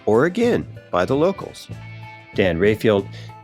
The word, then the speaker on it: Oregon: And in this episode, the example of Oregon, which I've learned in these interviews is actually pronounced Oregon by the locals.